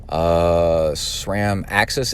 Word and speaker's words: AXS: They ordered the electronic shifting, SRAM Axis, AXS is how they spell it, and they put it on.